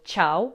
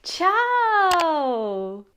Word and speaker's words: ciao: happy to see you, they will actually drag out the pronunciation of the A in the word ciao, which is them basically saying, hi, I'm so happy or I'm amazed to meet you. And it sounds like ciao.